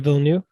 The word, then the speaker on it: Villeneuve: Because part of one of Dennis, how do you pronounce his last name? Denis Villeneuve.